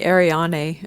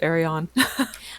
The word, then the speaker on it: Arion: i can't pronounce it i have people call me ariani and it's actually just arion i say arione that's